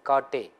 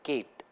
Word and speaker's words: Kate: three names like Professor Kate. So for the American, this will be Kate, whereas you know that it's an Indian name, typical Maharashtrian name. So according to that regional variation, it's Kate, not Kate.